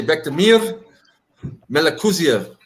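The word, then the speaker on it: Bektemir Melikuziev: You have to say it like an Uzbeki. You gotta say Bektemir Melakuziev. Yeah, Bek the Bully, bro.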